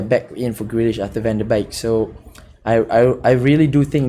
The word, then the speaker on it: Van de: Especially that now that we have Van de Beek. That's how you pronounce it.